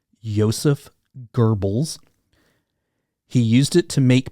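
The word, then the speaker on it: Joseph Goebbels: guy's name and everything i found says it's pronounced yosef goebbels he used it to make people think and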